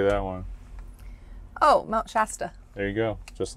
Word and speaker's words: Shasta: Oh, Mount Shasta.